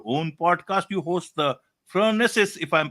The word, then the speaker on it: Phronesis: So Phronesis, and it's pronounced differently other places in the world, it's Aristotle, which meant practical Okay.